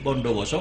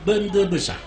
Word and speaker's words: Bondowoso: Orang sini kalau bilang Bondowoso, Bapak tulis Bondowoso, lah ini Bondowoso, orang sini bacanya Bende Besar.